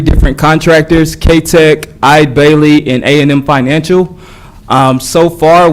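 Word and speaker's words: Eide Bailly: I briefed you all, I was pronouncing Ide Bailey as Ede Bailey. I just want to clarify for the record, it's Ide Bailey.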